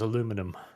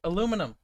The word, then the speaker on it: aluminum: It's like when Kyle says aluminum. It's awful. Aluminum. Well, how else would you pronounce aluminum?